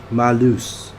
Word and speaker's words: Malus: It's more like a U instead of an O. Malus.